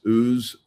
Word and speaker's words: Ooze: There's lots of brands out there, so we're not promoting a particular brand, but this pronounced Ooze, OOZE.